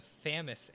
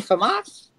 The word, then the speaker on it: FAMAS: Is the Famous in it? Famous is... you mean Famas?